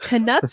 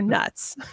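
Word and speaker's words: Knuts: W patch cost v is it Canucks or nuts I say Canute's Canute's one galleon two sickles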